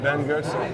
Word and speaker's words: Ben Goertzel: With me is SingularityNET founder Ben Goertzel. Am I pronouncing that right? That's right, Ben Goertzel.